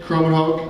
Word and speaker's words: Krommenhoek: We have Krommenhoek. I've never said your last name. That's the first time I've ever said it. Did I say it right? You got it.